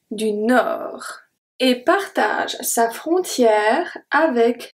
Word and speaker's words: Nord: Du Nord. Du Nord. The D at Nord is silent.